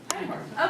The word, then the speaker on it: Einhorn: Einhorn. Okay, good German pronunciation, good.